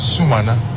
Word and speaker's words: Sumana: You know, yesterday I learned from the Speaker that his name is Sumana. You know, and sometimes we in the media mispronounce the names of people a lot.